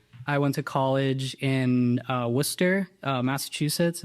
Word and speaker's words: Worcester: Yeah, Worcester. It's like spelled like Worcester.